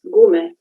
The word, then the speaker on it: Gume: In the continuation, I will read the title as it is pronounced in Slovenian language, gume, not in English pronunciation.